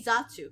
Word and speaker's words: zatsu: You say Zatsu, 2 syllables, right? Versus just chatting, which is 3 syllables.